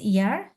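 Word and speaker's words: Jahr: ইয়টের উচ্চারণটা কি হয়? ইয়া, না ইয়া, এভাবে হয় না তো? এই জন্য ইয়া, আ, হা, এয়ার, ইয়ার।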